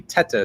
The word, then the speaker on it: Tetteh: hathan that's fine yeah my last name is actually tata so dr tata dr hassan is fine